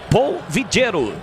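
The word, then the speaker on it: Paul Villero: A falta foi marcada oiro se escreve pau pa a u l v i l l e r o Mas como é colombiano Paul vigero no time da ponte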